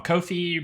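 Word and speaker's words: Ko-fi: But, uh, but yeah, um, Kofi rhymes with no fees.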